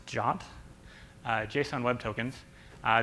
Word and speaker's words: JWT: you might use so JWT pronounced jot uh Json web tokens